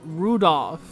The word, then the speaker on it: Rudolph: That mess of characters is pronounced Rudolph.